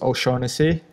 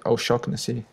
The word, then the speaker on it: Shaughnessy: So it's there's two ways. The English way is Shaughnessy, but it's an Irish name, and the area from where it comes from, you should pronounce it Shaughnessy.